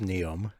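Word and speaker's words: NEOM: It's literally just pronounced Neum. It's like Neum, but spelled wrong.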